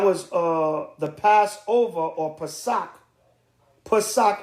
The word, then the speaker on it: Pesach: Pesach in the ancient Hebrew, P-A-S-A-C-H, Pesach. All right, that's how you say it in the ancient Paleo Hebrew.